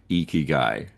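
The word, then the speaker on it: ikigai: guy uh for you a easy way to remember to say it is e like a long e key like you're unlocking a door and guy like this guy eeky guy and if if you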